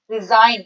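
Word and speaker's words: resign: जी एन ई डी रिजाइन इसमें जो जी letter है वो साइलेंट होता है रिजाइन अपने पद से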